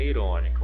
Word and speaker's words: irônica: Mas no caso, a sílaba tônica aqui, qual que é? É o ró, né?